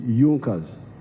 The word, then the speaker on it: Junkers: It is written Junkers, but they pronounce it Junkers, that saw the importance of a united German market.